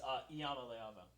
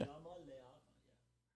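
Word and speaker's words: Iamaleava: You pronounced it like it was a capital L. Oh, it's Yamaleava. Yeah. There we go. Yeah. Yamaleava.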